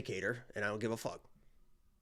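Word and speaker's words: Qatar: I was gonna say katar and I don't give a well now I'm forgetting the right way to say Kar is the is the what you're supposed to say the country um yeah I uh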